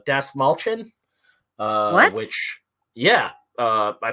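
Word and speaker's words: Dastmalchian: i found out uh david das mal shane's name is not pronounced that way it's like uh des mulchin uh which yeah uh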